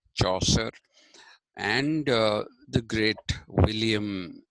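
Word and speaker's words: Chaucer: something that was used by people like Jeffrey choser c h u c a r choser and uh the great William Shakespeare so all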